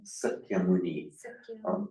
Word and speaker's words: Sakyamuni: Sakyamuni. Sakya was the name of his clan. In Sanskrit, Shakya. Pali is never Sakyamuni.